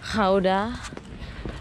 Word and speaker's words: Gouda: Ternyata cara bacanya tuh Gouda.